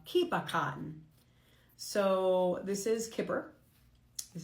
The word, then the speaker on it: Kipperkarten: This is uh in in German you pronounce it uh kipakan.